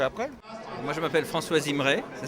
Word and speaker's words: Zimray: Moi, je m'appelle François Zimray, ça s'écrit Z-I-M-E-R-A-Y, et je suis ambassadeur de France en charge des droits de l'homme.